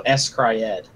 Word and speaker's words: s-CRY-ed: I was gonna say it's literally S-Cry-Ed.